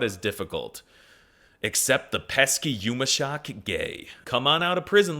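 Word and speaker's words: yumuşak ge: Even though it doesn't make a noise, the quirked up G has a big effect.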